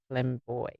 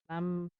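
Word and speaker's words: flambé: Is that how you even pronounce a boucle couch? It's the trendy ones. How do you say flamboy? Flambe.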